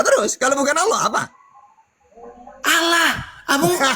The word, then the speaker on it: Allah: Berarti kalau dalam bahasa Arab ketika harakat fathah Allah dibaca tebal bukan allahah atau harakat domah lullah bukan lullah kecuali harakat kasrah lilla.